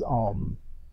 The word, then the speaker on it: Om: What is Om? Right back there behind me. A-U-M, phonetically. What is Om?